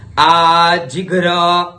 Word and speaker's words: आजिघ्र: आजिघ्र, आधा ग है, फिर घ और फिर र की मात्रा है, तो उच्चारण हुआ आजिघ्र कलशम।